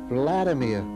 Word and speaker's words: Vladimir: my name and he told me his i mispronounced his name and so he corrected me by saying no vladimir we didn't speak for the next two weeks